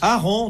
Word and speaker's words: Aaron: Il n'y a pas deux A ? Non. Au fait, il y en a, mais on n'en prononce qu'un.